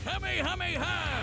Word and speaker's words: Kamehameha: It helps that he knows so many cool combat moves, like the Kamehameha. An incredibly powerful That's how technique you that pronounce focuses it, one's Fortnite ki into a players.